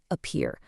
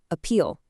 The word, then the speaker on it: appeal: slight transliteration error where the speaker mistakenly pronounces this as appear, but we're focusing strictly on the correct word here, appeal, ending with an L.